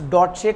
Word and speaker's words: Deutsche: अब इसको बेटा प्रोनाउंस डॉटचे करते हैं, ठीक है, डॉटचे बैंक।